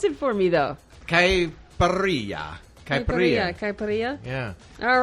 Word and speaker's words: caipirinha: You have to pronounce it for me, though. Caipirinha.